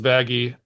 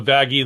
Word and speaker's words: Vaggie: I'm Vaggie, the E is silent.